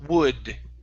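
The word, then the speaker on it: would: here we have the word wood instead of w w l the L is silent wood wood okay good and your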